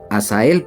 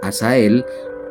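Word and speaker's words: Hazael: pronuncia, se puede pronunciar a Sael porque lleva H. En el idioma español también se puede pronunciar de dos maneras, con h, o sea, Asael, o bien como J, Jasael.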